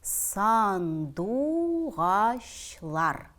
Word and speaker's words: сандугачлар: будет читаться сандугачлар то на татарском оно конечно произносится сандугачлар и заметьте ч тоже говорится как щ русском есть такой слова как щи борщ и вот как раз Здесь оно так и слышится сандугачлар Уно будет читаться конным